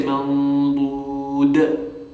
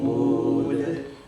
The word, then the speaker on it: mawdud: Also, it's not a shadda, so you wouldn't say mawdud. That's a shadda. We're not pronouncing a shadda here, we're just doing a qalqala. So, mawdud.